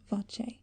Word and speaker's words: voce: ends with closure and the Italian voce pronounced voce with its two open vowel sounds the vowel sound ah